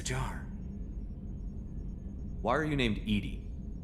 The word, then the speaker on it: EDI: why are you named edie edie is the phonetic pronunciation of e-d-i that is an acronym